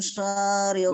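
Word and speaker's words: شرّ: Wa min syarri ghasikin idza waqab. Syarri tasdidnya. Tasdid tahu tasdid Syekh? Seperti apa tasdid? Ya, tasdid. Nah, mumtaz. Nah, kalau ada seperti itu di Al-Qur'an, berarti tanda ibaratnya bacanya dua huruf.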